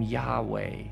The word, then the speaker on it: Yahweh: Now, some pronounce the name Yahweh or Yahweh, although in many traditions, the name isn't even pronounced because it's considered so sacred, so mysterious, so holy.